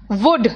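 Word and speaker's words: would: May, might, can, कुड, शुड, must, ought to, will, shell, वुड। देखो सब में L silent है, ध्यान रखना।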